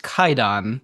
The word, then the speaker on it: Kwaidan: Have I talked about Kwaidan, or I think it's actually pronounced Kaidan, the Japanese horror movie?